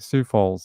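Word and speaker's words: Sioux Falls: stor all right so we just pronounce it like Sue like the lady like a female name all right Sue Falls there you go thanks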